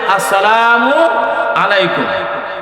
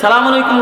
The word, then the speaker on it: আসসালামু আলাইকুম: রাসূলুল্লাহ সাল্লাল্লাহু আলাইহি সাল্লাম বলেন, হে সাহাবী, তুমি যে সালাম দিছ, সালামের উচ্চারণ হয় নাই, শব্দ হবে আসসালামু আলাইকুম। তুমি যে সালাম আলাইকুম কইছ, এটা অর্থ হইছে তোমার উপর গজব বর্ষিত হোক।